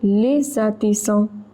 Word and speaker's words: artisans: S is in the middle of two vowels, so it is pronounced as Z. Also, there is a liaison between les and artisans. So, les artisans.